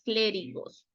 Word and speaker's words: clérigos: los solamente las palabras clérigos acento en la e se servían del latín